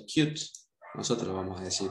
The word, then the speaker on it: Qt: Qt, esta biblioteca que vamos a ver ahora, bueno, acá dice que se pronuncia Qt. Nosotros lo vamos a decir bien en el castellano. Qt, pueden ver la página web.